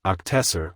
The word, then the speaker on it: octessor: it would be pronounced octessor when spoken in tongues. So why did I not use n as in nesser? Not only does octessor sound like professor and it's in Latin, it has three syllables.